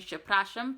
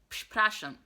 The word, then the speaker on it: przepraszam: So I was saying przepraszam, but I need to put emphasis on that P, so it is przepraszam, przepraszam, okay? Not przepraszam, but przepraszam, right?